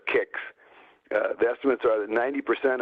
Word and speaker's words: CICS: And I've heard estimates that my friends in KIX land, we pronounce it CICS KIX, the estimates are that 90% of the KIX transactions are written in COBOL.